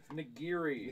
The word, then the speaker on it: Nagiri: Like Jessica Nagiri? I'm never gonna say her name right. Nigiri. Nigiri. Nigiri, yeah. Nigiri, like the. Let's the- fight the about it. food. Like the Japanese food.